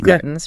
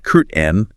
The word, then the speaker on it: curtain: You can say curtain clearly pronouncing it. Or very commonly it becomes curtain n with a stop key. Like you stop the air but don't release the curt N.